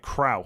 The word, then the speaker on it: Cruyff: The most famous mispronunciation of a name is Johan Cruyff. It is at OW as in cow, not oi as in boy. Like Krauf.